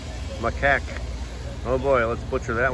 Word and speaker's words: macaque: here we go the japanese makkaku it's pronounced macaque macaque oh boy let's butcher